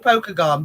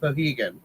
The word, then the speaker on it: Pokagon: It's spelled Pokagon, but it's pronounced Pohegan.